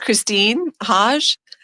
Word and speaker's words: Khrystyne Haje: She is Khrystyne Haje. Thanks for coming on, Khrystyne. Hi, it's actually pronounced Khrystyne Haje, but I'm the same person, regardless of whatever you call me.